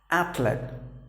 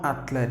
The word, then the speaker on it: athlete: The next word is athlete. Please. It's not the right way to pronounce the word. Athlete, no athlete, it's athlete. Athlete. Athlete. You have to give the long sound here.